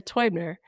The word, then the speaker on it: Teubner: How do you say how do you say I'm Sarah Toy Tubner Toyner? I'm Sarah Toyner and I am the WFC's MVP in German.